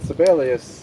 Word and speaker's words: Sibelius: But Sibelius is 4 syllables. It's kind of hard to say.